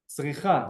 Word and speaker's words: צריכה: Tzricha, well done, Max. Ani tzricha. Remember hearing that sound at the end, telling us it's female. Tzricha, ani tzricha, in comparison to tzarich, ending in a consonant.